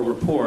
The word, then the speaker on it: Report: Tyson has been a frequent guest on the Colbert Report, or rapport, I guess is the proper pronunciation.